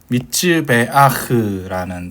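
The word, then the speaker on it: מזבח: 미츠베아흐라는 단어인데 요게 정확히는 선입터가 들어가 있는 거예요. 베흐에서 보면 요렇게 되는 겁니다. 요렇게. 그래서 원래 후운 소리가 발음하기가 힘들어 가지고 이렇게 끝에 내야 되다 보니까 힘들잖아요. 그래서 먼저 선입파로 발음하기 편하게 해 주는 거다라고 생각해 주시면 좋겠습니다.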